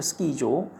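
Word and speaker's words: スキー場: 스키조. 그러니까 이게 조가 이게 길게 발음해서 조로 되는구나.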